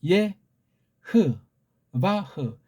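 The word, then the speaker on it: יהוה: 그래서 이거 지금 내음절자리, 그러니까 예, 호, 반대 이 마지막 해자를 묵음 처리하는 게 서양의 잘못된 거예요. 흐라고 발음해야죠. 아무런 것이 없으면 흐자 붙이면 돼. 그래서 요거에 지금 예, 흐, 바흐, 예흐바흐 그렇게 읽어야 돼.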